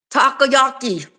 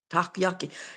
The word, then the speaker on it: takoyaki: How do you pronounce it? Takoyaki. That's it. You're right. That's it. Takoyaki.